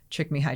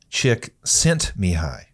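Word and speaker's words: Csikszentmihalyi: were getting at with check me hi check me hi no no no me hi chick sent me high yes that guy that you're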